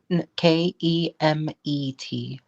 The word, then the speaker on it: Kemet: So, is it K E M I T? K E M E T. Oh, Kemet. Okay.